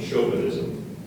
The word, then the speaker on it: chauvinism: Are there any alternate pronunciations? No, just the one, chauvinism.